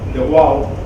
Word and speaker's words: Frans de Waal: Es Frans de Waal, o en Estados Unidos lo pronuncian de Waal, es un antropólogo, un primatólogo.